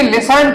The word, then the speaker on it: listened: आगे वी लिसनड, इसको बच्चे गलत पढ़ते हैं। क्या लिखा है? Listened। इसमें टी साइलेंट रहेगा।